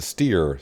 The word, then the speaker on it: Steyr: The Steyr, I've heard this pronounced Steyr and then the Steer. So either way you want to pronounce it, they had a couple of those tractors.